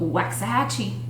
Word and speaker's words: Waxahachie: not how we would pronounce it, or anybody from there would pronounce I it. don't think so. That is called Waxahachie.